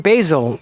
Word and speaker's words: basil: But yeah, so, you know, grow your own basil, or basil if you prefer to call it that. Which, by the way, I found out the other day, I wasn't weird. It's pronounced both ways in American English.